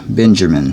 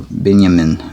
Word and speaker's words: Binyamin: not send joseph's brother benjamin or binyamin as it is pronounced here with his brothers for